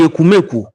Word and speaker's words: Ekumeku: Ekumeku is spelled E-K-U M-E-K-U, Ekumeku. We call it Ekumeku, but it is spelled on the internet Ekumeku.